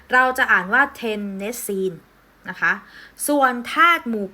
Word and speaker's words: เทนเนสซีน: 7 นะ คะ เรา จะ อ่าน ว่า ว่า เทนเนสซีน นะ คะ ส่วน ธาตุ หมู่ 8 ตรง นี้